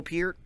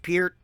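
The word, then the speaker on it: Peart: say it's neil it's neil peer it's pronounced pier comment section and danny carey what more could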